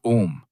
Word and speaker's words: ओम: ओम तीन हिस्से हैं ओम के। अ पेट से शुरू होता है। उ छाती में गूंजता है। सिर में वाइब्रेट करता है।